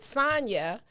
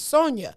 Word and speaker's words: Sonja: to call you because i pronounced it sonya the way i pronounce my friend sonya's name and maize was like her name is sonja and i was like